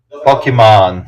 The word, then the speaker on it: Pokémon: And to be Some people are saying Pokémon means pocket monster. That might help you remember how to pronounce the mon. Ah, pocket monster. So, Pokémon. Doesn't help with the pokey, but Yeah.